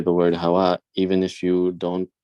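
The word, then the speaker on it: هواء: So you pronounce the Hamza on the end. Hawaii. Yeah. Or just stop, like give us like a slight stopping sound at the end.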